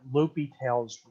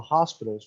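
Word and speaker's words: L'Hôpital's: series we're going to take a look at l'hopital's not la la hospital's rule but pronounced l'hopital's rule and l'hopital's rule is going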